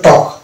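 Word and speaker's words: talk: যেমন এই যেটা এ এল কে আগে ভাইল আছে এ, তাহলে এটা এল সাইলেন্ট হয়ে যাবে, অর্থাৎ এটা হবে টক, অনুরূপভাবে এটা হবে চক, ওয়াক, ইয়ক, ফক।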